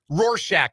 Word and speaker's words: Rorschach: Rorschach, by the way. I learned how to pronounce it.